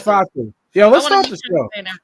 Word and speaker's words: Fatu: It's Fatu.